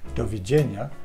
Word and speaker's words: doviđenja: Le D avec la petite barre se prononce comme un DJ, comme dans djellaba ou un jeans. Et l'exemple, c'est doviđenja, qui veut dire au revoir.